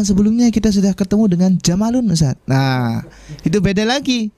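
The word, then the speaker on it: جمل: Ustadz, di pertemuan sebelumnya kita sudah ketemu dengan jamalun Ustadz. Nah, itu beda lagi ya. Itu bacanya jamalun. Pendek semua.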